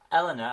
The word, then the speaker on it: Eleanor: Eleanor, that's how I pronounce her name.